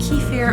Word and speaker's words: kefir: milk and kaffir nice some people call it ki fair I know ice but I call it calf here so if I'm pronouncing